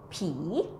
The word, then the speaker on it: ผี: Actually, this word, ผีYou might confuse with similar to pronounce with the word P that means someone older than you, okay? This one falling tone is P and the ghost is rising tone P.